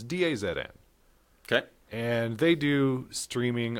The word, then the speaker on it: DAZN: There's one called, I don't even know how it's pronounced, Dazen? It's Dazn.